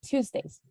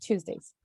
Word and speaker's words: Tuesdays: one is like uh it's pronounced like tuesdays as if the e is silent just tuesdays tuesdays good thank you